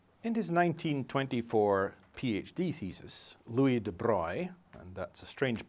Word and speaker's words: Louis de Broglie: In his 1924 PhD thesis, Louis de Broglie, and that's a strange pronunciation for an English speaker, it's a French pronunciation of that spelling, but that's the guy's name, made a deceptively simple proposal.